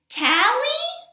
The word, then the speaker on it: Tally: But my friend, Tally, which rhymes with, which is my name, Tally is always playing baseball with me, and she knows I'm not very good.